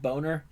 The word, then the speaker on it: Boehner: pronounced boner.